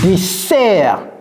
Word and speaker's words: dessert: donc le premier le dessert dessert vous voyez bien deux S mais ça se prononce comme Z et c'est desert le stress est mis sur la deuxème de Desert ici il y a